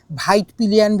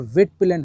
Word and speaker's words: Husqvarna: Wheat पिलियन नहीं है, वाइट पिलियन भी नहीं है। आज तो Google का जमाना है। सभी के हाथ में Google होता है। तो आप उठा के देख लीजिए ना कि एक्चुअल में इसका प्रोनाउंसिएशन क्या होता है। हुस् Verna होता है और वटपिलन होता है।